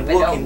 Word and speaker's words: Walk: Walking Dead Walking Dead para qué tiene la l no se pronuncia la l Walk Walking el día del car Simpson